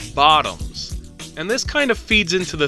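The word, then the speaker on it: Votoms: But whenever the word Vautums is used, it deliberately makes use of the Japanese tendency to muddle the pronunciation of the letter V with the letter B, to pronounce it as Bottoms.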